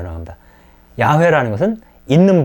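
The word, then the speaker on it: 야훼: 내 편을 한 거죠 그래서 이것을 발음을 해야 되기 때문에 야외 라고 바로 하죠 개신교에서는 어 여호와 라고 발언을 하고 있습니다 으 이 다르므로 p 할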